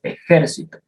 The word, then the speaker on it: ejército: Las palabras esdrújulas son las que llevan el acento en la antepenúltima sílaba, como por ejemplo, yo estoy en el ejército.